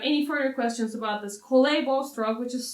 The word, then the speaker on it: collé: If you have any further questions about this collé bow stroke, which is spelled as C-O-L-L-E with an accent.